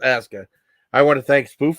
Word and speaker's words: Aska: It says I usually say Asuka. I know it's pronounced Aska.